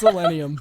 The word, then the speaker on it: Illenium: I don't know how to pronounce it. It's Illenium.